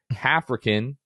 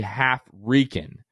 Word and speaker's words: HalfRickan: So Hafrican is actually half Rican. But in my defense, Luke, it's spelled HALFRICKAN. So half Rick Ann.